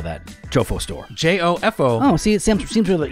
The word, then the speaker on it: Jofo: J-O-F-O. Oh, see, it seems really easy to me. For some reason, our knucklehead listeners can't spell that. Really? Yeah, they're spelling it like J-O-E-F-A-U-X. Jofo, like fake Joe.